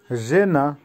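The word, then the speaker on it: жена: মিনুতা, মিনুতার অর্থ হবে মিনিট, উচ্চারণ হবে মিনুতা। আবারও বলছি মিনুতা। জেনা, জেনার অর্থ হচ্ছে বউ বা ওয়াইফ, উচ্চারণ হবে জেনা।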